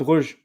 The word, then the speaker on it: Brugge: Club Brugge, yeah. It depends Club if you're saying Brugge. it if it's Flemish, if you say it in Flemish, or if you say it in French.